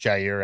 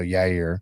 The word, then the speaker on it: Yair: Honestly, when we started, that first Jair episode was definitely Yair. I shouldn't say it like that anymore. I should say we've known him long enough that I should say it the right way. So Yair.